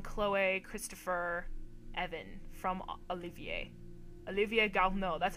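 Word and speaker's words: Olivier Garneau: Olivier Galneau, that's how you say it.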